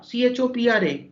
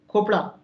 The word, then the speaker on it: Chopra: been to northern India, you will find that 30 to 40% of the people will pronounce Chopra as Khopra.